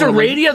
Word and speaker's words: Aradia: And it's so unfortunate that Andrew said Aradia, and it is Aradia. That's how I said it forever, and then everybody kept correcting me, so I moved it to Aradia.